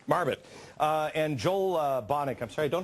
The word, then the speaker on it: Marbut: Marbut. Marbut.